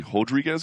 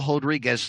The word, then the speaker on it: Rodrigues: By the way, he's Brazilian, so that first R is going to be pronounced like an H, we think.